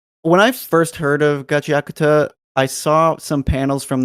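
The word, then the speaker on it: Gachiakuta: evening here, and I already forgot how to pronounce it appropriately. So Gachi Akuta. There you go, Gachi Akuta.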